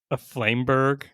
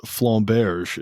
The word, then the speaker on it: flamberge: a 4/5 Jade Phoenix, a Flameberg is how you pronounce it. No, He's not. doing this on purpose, mispronouncing Uziel, Flameberg. God. No, it's Flamberge is how it's Flamberge in French.